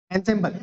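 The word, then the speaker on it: ensemble: Next word देखिए यहाँ पर क्या दिया हुआ है आप लोग को, एनसेम्बल। देखो असेंबल नहीं है, असेंबल अलग वर्ड होता है, ठीक है, असेंबल अलग वर्ड होता है और एनसेम्बल अलग वर्ड होता है, ठीक है।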